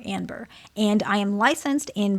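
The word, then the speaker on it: Anber: My name is Amber with an N. So Amber but with an N. It's not any fancy pronunciation. A N as in Nancy B E R Amber.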